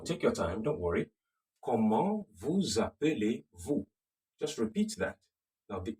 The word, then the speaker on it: Comment vous appelez-vous: Comment vous appelez-vous? Comment, remember, the T is silent. Can you hear that? Comment vous appelez, the Z is also silent. And then vous, the S is silent.